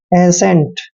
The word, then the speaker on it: assent: Next word है ASSENT, ए को हमने ए पढ़ना है, डबल एस का उच्चारण श करते हैं और ई को ए की मात्रा पढ़ने हैं, एन का उच्चारण आधा न और टी को ट पढ़ते हैं।